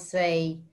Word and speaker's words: sa: And the word for, so in English we have two words when we say in the shop.